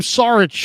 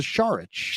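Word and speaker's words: Šarić: still on the roster I was calling him sarich for a long time only to figure out that he was a not a sarich he was a shich Char yeah sh as the pronunciation and no he's he's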